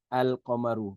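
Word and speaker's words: القمر: Al-Qamaru, the moon, is pronounced Al-Qamaru.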